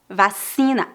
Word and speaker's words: vacina: coronavírus número três vacina lembre-se que a letra c é pronunciada como é se diante das vogais e vacina vacina uma substância usada